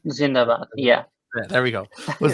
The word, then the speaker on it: Zindabad: Zindabad.